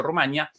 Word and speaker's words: Rumania: El nombre de este país europeo presenta en español dos acentuaciones, ambas válidas. Por eso la diferencia entre e Juan Antonio llamándolo Rumanía y Yo Rumania, la pronunciación Rumanía a